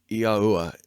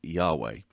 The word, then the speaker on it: Yahuwah: Yahuwah is the way I pronounce it, and I believe it is properly pronounced. Most say Yahweh.